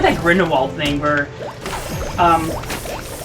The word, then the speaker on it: Grindelwald: about it's like that grindelwald thing where um jude law mispronounced grindelwald it's so obvious but he didn't notice there's like grindelwald it's like it's grindelwald grindelwald grindelwald and he was the